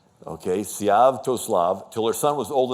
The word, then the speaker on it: Sviatoslav: So Olga is now ruling Kiev till her son, and it's a little tricky pronunciation, Sviatoslav. Okay, Sviatoslav, till her son was old enough to take power.